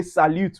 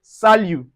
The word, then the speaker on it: salut: The T in salut is silent. So we don't say salut, we say salut.